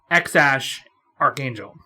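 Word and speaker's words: X Æ A-12: then the ash symbol a a-12 it's actually pronounced x-ash archangel i hate him that is the coolest a-12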